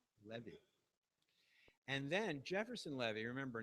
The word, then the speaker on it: Levy: Levy purchases monachello and after his name it said in parentheses le- ve Levy and then Jefferson Levy